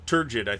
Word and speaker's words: turgid: So Doug says soft G. So turgid. I think I've always mentally said it as turgid, but that may have